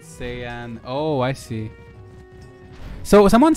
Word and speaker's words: Saiyan: It's pronounced that way in Japanese, but in English they went with Saiyan.